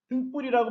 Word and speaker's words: 등불: 등불이라고 발음하죠? 그러면 등불은 사이소리 현상이 일어난 것입니다.